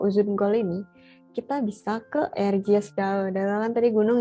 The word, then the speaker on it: Erciyes: Kita nyebutnya pakai J ya. Jadi C di situ bacanya J, Erciyes gitu. Bukan Erciyes. Erciyes.